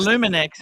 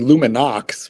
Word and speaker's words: Luminox: I mean, you know, not a luminex. Is Is this a Luminex? Uh, I think you mean Luminox, which is actually tridium.